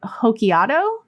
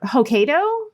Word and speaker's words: Hokkaido: advance uh Honshu and hokiato ah or Hokkaido Hokkaido isn't it Hokkaido that does sound right that sounds more right than what I said but I